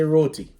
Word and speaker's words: roti: hear what you're saying but it's roti say roti but we we live in canada and we've